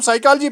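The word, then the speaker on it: psychology: जी नहीं पड़ते हैं इसको हम साइकोलॉजी पढ़ते हैं पीस साइलेंट रहता है प्लीज म्यूट योरसेल्फ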